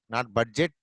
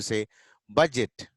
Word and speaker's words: budget: Education, budget, not budget, D silent. We have to say budget.